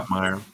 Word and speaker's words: Schopmeyer: Well, I would say Schottmeyer. Yeah, it's Yeah. Schottmeyer.